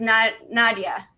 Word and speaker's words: Nadja: And her name is Nadia, but spelled with the J, Nadja, Nadia.